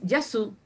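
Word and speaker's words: γεια σου: En el idioma antiguo es Yesia Sas. Yesia Sas. Y hoy es Yasu. Nada más. Para decir hola hoy es Yasu.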